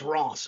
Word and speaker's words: Reims: It's pronounced in French as Reims, which is what?